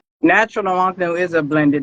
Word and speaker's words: Nwonknu: Could you give everybody the proper pronunciation of that magnificent name you have? Natural Nwonknu. Natural Nwonknu.